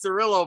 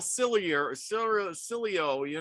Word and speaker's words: Cirillo: I know it's Cirillo, but it goes through my head first and not out my mouth, and I'm like, Al Cilio, and I'm thinking, what the heck? That ain't how it's said.